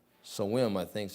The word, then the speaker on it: Samhain: It's part of the Scottish and Celtic or Irish celebration of the harvest time called Samhain, I think is how they pronounce that.